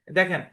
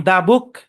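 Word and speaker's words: the: এটা দা বলবো না, অ্যাকচুয়ালি টিএইচ এর পরে ভাওয়াল থাকলে টিএইচ এর উচ্চারণ হবে দি, যেমনটা আমরা এখানে দেখতে পাচ্ছি।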